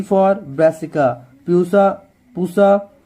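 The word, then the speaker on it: Pusa: तो अब देखो पहला देखो ब्रासिका, अब यहाँ पे वैरायटी में देखना पूसा जो है ना, प्यूसा, जैसे आप प्रोनाउंसिएशन कर सकते हो, ये जो पूसा है या पूसा, पूसा ही बोलना है इसे, ठीक है।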